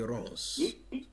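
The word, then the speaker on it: Ronz: C'est l'artiste camerounais Rance. Rance s'écrit R-O-N-Z.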